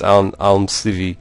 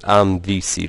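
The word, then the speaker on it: Almsivi: some Al Al civi yes it's Al civi it's not alvc like I was saying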